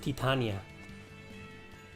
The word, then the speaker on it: Titania: don't call her rogue we call her titania well pronounced titania perfect timing eisen